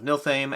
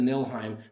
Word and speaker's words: Niflheim: So in order, it was Escape from Stalingrad Z, Escape from Projekt Riese, Gates of Niflheim. The F apparently is silent.